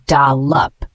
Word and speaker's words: dollop: butter cream or sauce the word dollop is spelled D o l l o p and it is a noun pronounced as dalup it means a large